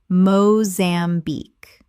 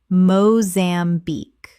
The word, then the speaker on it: Mozambique: Common mispronunciation, Mozambique. Correct pronunciation, Mozambique. 3 syllables with the stress on the final syllable.